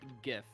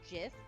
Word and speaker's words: GIF: movie yeah it's a great movie also it's gif i got it if somebody says it's jiff i will physically fight them yeah it's pronounced